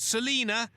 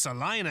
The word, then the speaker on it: Salina: A place called Salina, Kansas. No, not Salina. It's pronounced Salina here.